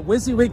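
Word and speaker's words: WYSIWYG: are you watching uh wizzy wig tv yeah what you see is what you get is pronounced wizzy wig tv okay time to get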